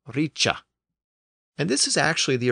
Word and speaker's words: ric: was not pronounced like rice in Modern English instead the C Sound had emerged in this context and the Word was pronounced Richa and this is actually